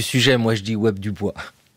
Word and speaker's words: Du Bois: africain de la diaspora son nom s'écrit du bois ça se prononce du bois il est né vers